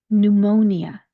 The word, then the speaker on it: pneumonia: Nu, mo, ni, the ending, even though it ends in an A, if you're listening to how I pronounce this, I'm not putting an A vowel sound. I'm putting that schwa sound again, where it sounds more like a U pronunciation.